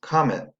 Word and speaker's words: comet: This week we have been looking at words that end in ET, where the E says I because it's in an unstressed syllable.